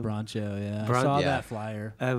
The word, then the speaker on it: Broncho: I don't know how to pronounce their name. Broncho, yeah.